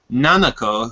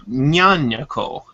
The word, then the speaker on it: Nanako: follows our main character, Nanako, who commonly mispronounces her name on live televised or staged microphone events where she goes Nyanyako.